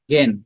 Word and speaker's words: জ্ঞান: কিন্তু উচ্চারণ তো রূপটা হচ্ছে জ্ঞান, জ্ঞান গ উচ্চারণ হয় আবার।